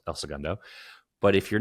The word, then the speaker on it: El Segundo: And if you're native to Southern California, you pronounce it El Segundo. And if you're not native to to California, I mean, if you have any Spanish background, you still say El Segundo.